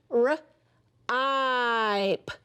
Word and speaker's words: ripe: And then when we put that E there, it changes the I to I. R, ipe, ripe.